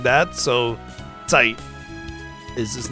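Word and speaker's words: Zeit: Site. So Z in German is pronounced like a TZ. So T kind of like that. So Tight is his name.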